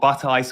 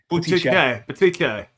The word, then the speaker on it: Butticè: There's an accent on the E, and because there's an accent on the E, it's not Buttice or Batiste. Oh, I know it's though. Butticè. As my mum would, or Butticè, like Butticè if you're in Italy, or Butticè if you're in England.